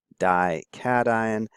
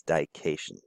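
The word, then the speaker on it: dication: calcium this is the calcium die cation please don't pronounce it as die keishon I see that sometimes if you have a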